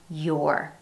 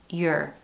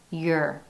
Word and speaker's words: your: When pronounced in isolation, you'll hear your. However, when used in a sentence, in an unstressed syllable, it's your, your.